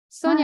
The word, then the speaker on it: Sonia: Sonia, Hi. am I pronouncing your name right?